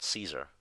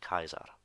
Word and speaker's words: Caesar: so a lot of people would have said Caesar but his name in classical pronunciation would actually pronounced Kaiser and the other word dictator and the phrase